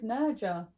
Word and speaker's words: Nerja: Sounds like Nerha when we went there. Even though I still don't think that's how you say Where it. did we go now? No, it's Nerja.